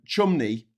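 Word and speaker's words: Cholmondeley: There's there's uh um chumney which is which is spelled chumold tumoldy and St.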